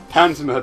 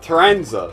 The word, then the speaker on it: Taranza: Tanzima decided... Taranza. Sorry, I'm saying his name wrong.